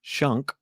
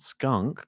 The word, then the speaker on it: Schunk: did you pronounce that how's that name pronounced shunk skunk not skunk come on that's a bit mean trying